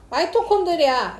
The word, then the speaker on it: 마이토콘드리아: 비타민이라든가 스티로폼이라든가 이게 다 일본식 발음이어서 그 드 일본을 거치기 전에 그 나라의 원 발음으로 우리가 발음하자고 해서 발음이 그렇게 바뀐 겁니다.